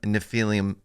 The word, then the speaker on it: Nephilim: Nephilim, yes.